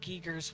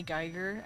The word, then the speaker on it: Giger: Um, I used to say geer and then I looked it up and then it's German, so you pronounce it giger apparently.